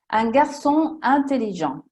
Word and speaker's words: un garçon intelligent: Un garçon intelligent. Qui non si prolunga il suono della N con la I, sono staccate, due parole staccate.